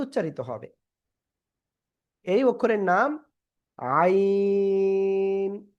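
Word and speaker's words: ع: এই অক্ষরের নাম আইন। গলাটা চেপে আপনি 4 আলিফ টানিয়ে উচ্চারণ করবেন, 4 আলিফ, আইন। সবাই জোরে জোরে পড়েন, জোরে জোরে পড়েন।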